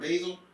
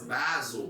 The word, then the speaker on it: Basel: And how do you pronounce it? Basil. Art Basil? Art Basel, bro.